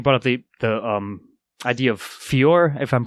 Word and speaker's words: fiero: I think you brought up the idea of fior, if I'm pronouncing that correctly. That makes sense. Yeah, fiero.